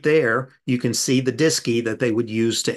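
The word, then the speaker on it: DSKY: a device called the disy and disy is spelled dsk Y and it's short for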